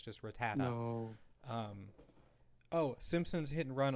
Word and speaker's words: Rattata: like for like for rattata they i forgot what the hell it was but god damn it it's rattata it's not rad to tata or rat tata it's repatta someone in